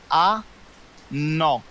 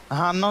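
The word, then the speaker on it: hanno: ا لوي ا ماكينه رد بالك حرف الاش كتشوف ماكتنطقش الذا قالتي هانو نطقها انو ماشي هانو هذه هي القاعده الذهبيه Ja.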